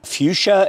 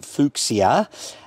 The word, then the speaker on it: fuchsia: So dahlia probably should be dahlia, fuchsia should be fuchsia, and mahonia probably should be mania. So whatever their name is, you try and pronounce it as closely as possible to the original.